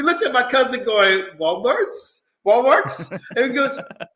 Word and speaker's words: Walmart: And me and my sister, we looked at my cousin going, Walmarts? Walmarts? And he goes, is it Walmarts? I'm going, no, baby, it's Walmart.